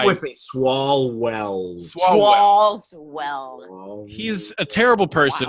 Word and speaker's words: Swalwell: Eric, is it Swalwell? Is that how you say his name? Who, by the way, say it with me. Swalwell.